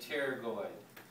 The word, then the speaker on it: pterygoid: right here okay uh the p is silent so you just say pterygoid uh i'm sorry you